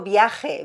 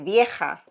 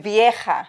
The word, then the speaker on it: vieja: No viaje. Vieja. Do you hear yourself? Yes. Viaje is travel. What do you say? Vieja. Vieja. You know Vieja. Viejo Old. It's confusing because I'm always thinking like oh they're traveling somewhere. It's a traveling night. Viaje. It's like whenever I said ajo and then he goes oh your eye? Your ojo? No. Ajo. No.